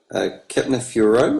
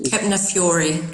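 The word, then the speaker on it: Kepner-Tregoe: Highlight for me in the last month is I sat in on a Kepner Furo, or KF course. Kepner Fury. There you go.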